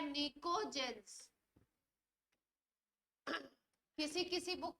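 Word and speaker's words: pnictogen: और नाम देते हैं पी साइलेंट होता है निकोजन किसी किसी बुक में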